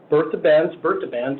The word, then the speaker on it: Bertha Benz: Emily Davenport, Bertha Benz, as the Germans pronounce it, and Clara Ford.